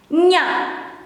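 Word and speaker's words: -nya: How to pronounce this is the same or similar when you have to pronounce kanye, nye. You change the e into a, nya, nya.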